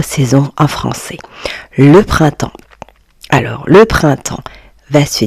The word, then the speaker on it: printemps: Le printemps. Alors, le printemps va se dire temps. Temps. Voyez les amis, le P et le S sont des lettres muettes.